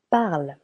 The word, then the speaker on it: parles: Je parle. This symbol over here means nothing, empty. Parle. Tu parles. Parle, silent S.